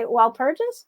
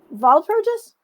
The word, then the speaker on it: Walpurgis: I used to say w purges but it's actually pronounced Val purges yeah the the Germans give it the V well Pur KN but